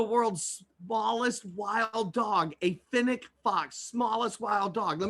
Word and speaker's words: fennec: A fennec fox, smallest wild dog. Let me spell that for you, f-e-n-n-e-c fox.